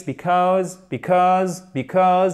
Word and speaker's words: because: James backed out of the race because, accent tonique sur la seconde partie, pardon, because, voyelle longue en plus.